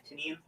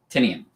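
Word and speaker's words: Tynion: I always heard it because his company is called Tiny Onion because it's supposed to rhyme with his name.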